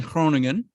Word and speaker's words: Groningen: But my family's in Groningen. The G is like, yeah, it's hard to pronounce, Groningen.